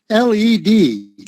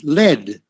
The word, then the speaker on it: led: Okay, Lily, one word, L-E-D, led. Then they led Jesus away. I think I maybe heard you wrong, but 66, led, L-E-D. Just like that.